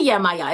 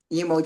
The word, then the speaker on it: Yemoja: yeah, so like that one, that pronunciation you hear mostly like in like Brazil and kind of like Uh, Spanish, that Yemoja. Yemoja okay. is the, Yemoja. yeah, with a J-O, Uh-huh.